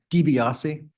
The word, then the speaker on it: DiBiase: DiBiase, DiBiase. yeah, like I's are like long E's.